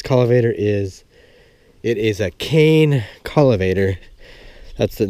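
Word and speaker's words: Kohen: It's spelled cane, K-O-H-E-N. That's how you spell the name of it. It looks like, when you pronounce it, it looks like it's called Cohen. But it's not, it's pronounced cane.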